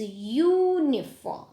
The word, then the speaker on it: uniform: But no, it is uniform, European. The sound is U, so we are using a, not an.